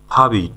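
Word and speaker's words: forbid: ফাবিট ফাবিট ফরবিট না কিন্তু ফাবিট সঠিক উচ্চারণ ফাবিট মানে হচ্ছে নিষেধ করা।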